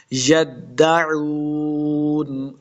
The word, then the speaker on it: یدعون: کے ساتھ ملانا ہے، دال مشدد ہے، یدعون، واو مدہ ہے، اس کو 2 حرکات لمبا کریں گے اور آخر